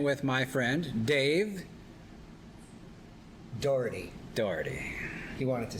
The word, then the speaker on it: Daugherty: here once again with my friend dave dougherty dougherty he wanted to say it right it's not